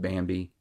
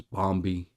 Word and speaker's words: Bambi: Like, there's one point where they're talking about Bambi and mispronounced Bambi is Bombi.